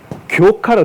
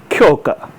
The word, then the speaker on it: 狂歌: 그래서 이거는 교카로 돼요. 교카든가 교카. 이 원래 발음은 쿄가. 광가, 쿄가라는 일본 단시문학, 신화문학의 장르 중 하나인데 그거를 교카.